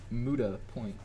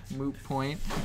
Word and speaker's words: moot point: Zig said how you pronounce it is a Muda point. Moot point.